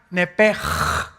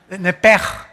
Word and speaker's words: Nepesh: Esa palabra alma es la palabra hebrea Nepesh, así como suena, N-E-P-E-S-H, Nepesh. La palabra, la letra o las letras S-H en el hebreo se pronuncian en hebreo como J. Entonces se pronuncia Nepej.